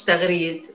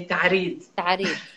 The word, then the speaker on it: تغريد: فمثلا خالي تقول عليه حالي، وانا اسمي مش تغريد، انا اسمي تعريد.